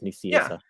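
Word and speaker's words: Nicieza: off of the recording i asked him how to pronounce his name and that's what he told me is nucia when i introduced him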